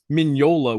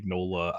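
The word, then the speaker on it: Mignola: how he pronounces it I have a tendency to pronounce everything the Italian way even if it's a Spanish name i pronounce it the Italian way but minola would be the Italian but most people americanize it and say mola I don't know yeah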